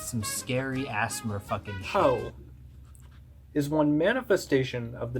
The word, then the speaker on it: POEE: Poe, pronounced Poe, is an acronym for the Periatheo Animetamystichood of Eris Esoteric.